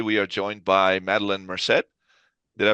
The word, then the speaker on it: Merced: I'm your host, Rory the Good, and today we are joined by Madeline Merced. Did I pronounce that right?